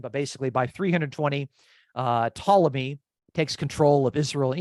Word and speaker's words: Ptolemy: another one is named Ptolemy which actually starts with a p and a t but you don't pronounce the P it's it's Ptolemy and his dynasty is